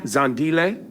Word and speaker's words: Zandile: you're your name I'm going to try to pronounce it uh Amala Amala perfect Amala rodna yeah okay yeah that's pretty good yeah zandile yes uh gamini yeah that's good right I